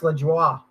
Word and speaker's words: Lajoie: It's like pronounced LaJoie or something like crazy French type.